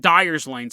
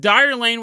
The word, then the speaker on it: Dyer Lane: off of watt avenue called dyer lane and i always called it dyer's lane so i'll probably move back and forth between the two pronunciations the correct one and then mine but dire lane was this old country